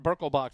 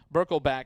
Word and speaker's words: Birkelbach: Thanks to Janice Ton, daughter of Coach Birkelbach, who corrected us in our pronunciation of it is not Birkelbach Field. The family always pronounced it Birkelbach, and so we want to honor that, and I appreciate the